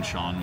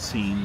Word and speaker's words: Sean: I I mispronouncing names is one of my pet peeves cuz being Sean with an s ean, I got seen more often than I I cared about.